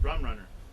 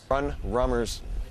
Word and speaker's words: Rum Runner: Rum Runner. No S. No S. Run Rummers. Rum Runner. Am I saying it wrong? You said Run Rummer. It's Rum Runner.